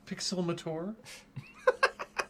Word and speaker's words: Pixelmator: But it's pronounced Pixelmator.